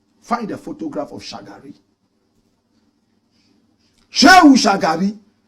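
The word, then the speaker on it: Shehu Shagari: Shu. Shagari. Shu is spelled S H E H U. Shagari is S H A G A R I.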